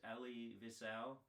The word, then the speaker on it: Elie Wiesel: the book Night uh I believe it's pronounced Ellie Vel and he was a